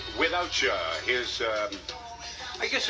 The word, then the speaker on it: WithoutChya: catchy beat too I like the way it's spelled too without you it's without and then c h y a right up against it without you of course every English